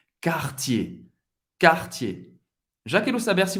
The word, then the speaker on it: Cartier: Duas sílabas. ER no final de uma palavra tem o som do E. Cartier.